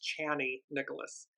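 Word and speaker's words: Chani Nicholas: um this is from channy Nicholas I I apologize I've been saying her name wrong it's channy Nicholas um incredible astrologer and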